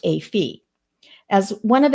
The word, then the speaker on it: A Phi: Kaylee's and Maddie's top choice is Alpha Phi, or A Phi as it's known, pronounced A Phi.